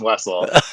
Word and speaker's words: Wessel: I like that German pronunciation, but it's just Wessel.